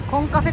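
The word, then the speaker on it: Cộng Cà Phê: てますこちらコンカフェと書いてコンカフェと読むそうですメニューはこちらなん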